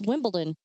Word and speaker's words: Wimbledon: Isn't there a T in there? Wimbledon? No. It's Wimbledon, but I just feel like I'm mumbling when I say it like that.